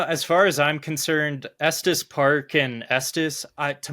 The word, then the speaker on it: Estes: used to say it wrong but it is pronounced Estus correct that's correct yeah I know people from